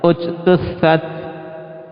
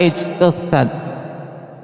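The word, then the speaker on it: اجْتُثَّتْ: Ini salah kalau seorang membaca ijtussat. Naam. Ketika ibtida. Ya, ketika ibtida maka dia perhatikan huruf ketika pada ujtussat. Hurufnya apa? Aba Muhammad. Huruf ketiganya huruf apa? Ta. Dia harokatnya dhammah. Dan dhammahnya ini dhammah lazimah, maka kita awali dengan dhammah.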